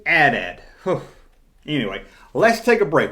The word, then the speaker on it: AT-AT: Initialism is an anagram that is pronounced as individual letters, such as DNA. Damn right, Larry, damn right. It's AT-AT. You say AT-AT.